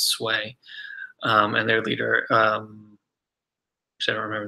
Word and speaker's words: Sui: by the sway Sui is sui obviously every pronounce sway and their leader so remember the leaders name